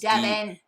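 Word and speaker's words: Deben: When you say Debin, it sounds like you're saying I don't know if Devin that's wrong. I don't know if that's how it's pronounced. It's Devin.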